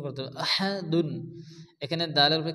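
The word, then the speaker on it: أَحَدٌ: হয় এখানে কি হবে পড়তে হবে এরপরে আহাদুন এখানে কিন্তু বড় হাসে অনেকে আছে আহাদ ছোট হা পড়ে আহাদ পড়া যাবে না পড়তে হবে আহা মুখ দিয়ে বাতাস বারে করে উচ্চারণ করতে হবে আহাদুন এখানে দালের উপর কি আছে দুই পেশ যদি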